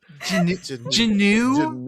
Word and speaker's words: Juneau: I will- Juneau is Janu. Janu. Yes. It's spelled just like it sounds. Yeah. I hate that it's true. It annoys me. But that's basically true. That I could have just sounded this out like a fucking second grader and probably had it. Maybe. No. I wouldn't Juneau. have got that. Janu. Janu. Like Janu. canoe. Rhymes with canoe. Spelled That's the right. exact same way.